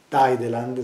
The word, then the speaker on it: Tideland: Penso ad esempio a Tideland, si pronuncia così, il mondo capovolto. Tideline, nel mondo capovolto, che